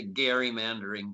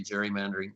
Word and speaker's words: gerrymandering: want to mention jerry technically you're supposed to say gary mandering but most people say gerrymandering that's a huge problem